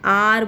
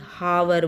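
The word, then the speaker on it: hour: लग सकता था, क्योंकि जो एच है इसकी बिगनिंग में वो साइलेंट है। ठीक है, इसकी एच की साउंड साइलेंट है। तो साउंड पे मैंने आपको बताया, साउंड पे डिपेंड होता है। तो एन आर बोल रहे हैं, ना कि हावर बोल रहे। अगर इसको हावर बोला जाता तो ए लगता है, क्योंकि इसको आर बोला जाता है, इसकी प्रोनाउंसिएशन आर है, तो इसके आगे एन लगेगा।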